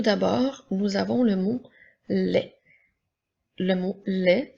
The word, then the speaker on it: les: nous avons le mot les le mot lait s'écrit l e s le son es lorsqu'il est placé à la fin d'un petit mot de trois lettres se prononce est donc elle qui fait